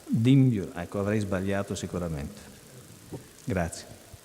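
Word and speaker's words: Dimbulah: Dimbiula. Dimbiula, ecco, avrei sbagliato sicuramente.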